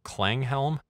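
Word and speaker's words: Klanghelm: free uh plugin from clang Helm believe is how that's pronounced driven up just a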